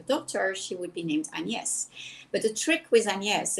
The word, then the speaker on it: AnYes: hate agnes i love anies so one day an american coach introduced me in writing and she wrote between brackets to be pronounced a and hyphen yes and i thought oh